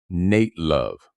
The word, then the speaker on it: Nat Love: Nat Love, pronounced Nate Love, was one of the most famous black cowboys of the American West.